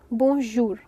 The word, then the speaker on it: bonjour: Good day in French is bonjour. Bonjour. यहाँ पे थोड़ा सा ज का साउंड लिटिल बिट प्रॉब्लमैटिक है जो आपको समझना पड़ेगा.